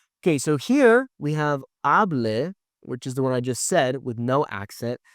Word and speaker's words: hablé: Okay, whereas here with an accent, now we have hable. I always tell my students to kind of jump, right? Hable.